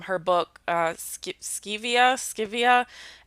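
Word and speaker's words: Scivias: book uh sk skevia scivia s-c-i-v-i-a i think it's how it's pronounced um which i also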